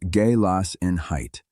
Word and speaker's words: Gelassenheit: The word is galassin height, roughly pronounced galas in height.